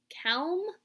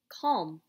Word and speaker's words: calm: a word I know let's try a long a okay a all mmm kale no that doesn't sound like a word I know so a makes one more sound right it says ah let's try it with the aw sound Oh calm that's a word I know calm good job think about